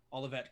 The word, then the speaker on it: Olivet: i'm saying this right is it olivet or olave college olivet olivet college okay i didn't know if it was like a french pronunciation or something going on sure uh